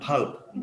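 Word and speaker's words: valve: বাল্বের মত বাল্ব কি স্যার চিনি বাল্ব নয় ভাল্ব আকার ল ভ অর্থাৎ বনা ভল্ব যেটা বুঝায়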